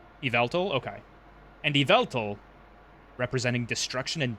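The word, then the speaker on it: Yveltal: Is the Do you pronounce the Y at the front? Is itveltal or just Vveltl? Iveltal.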